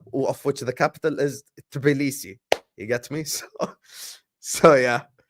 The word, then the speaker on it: Tbilisi: See? Tbilisi. T is not silent.